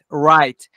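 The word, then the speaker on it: right: موضوعی که توی تلفظ اینجا باید دقت کنید تلفظ ره زبون نزدیک سقف دهان را رات اولین چیزایی که کمک میکنه به اینکه ببینی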